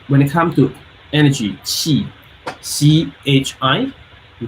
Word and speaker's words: qi: But when it comes to energy, qi, C-H-I, we call qi or Q-I. It's two different pronunciation.